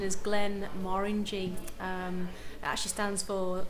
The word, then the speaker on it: Glenmorangie: you pronounce genre correctly so the correct correct pronunciation is glenn marin g um it actually stands for uh the glenna